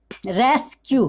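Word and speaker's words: rescue: हो तो एस सी का उच्चारण क्या होता है, अस्क होता है। जैसे कि फॉर एग्जाम्पल यहाँ पे रेस्क्यू, क्या पढ़ेंगे इसको, फॉर एग्जाम्पल में यहाँ क्या लिखा है, यहाँ पे रेस्क्यू।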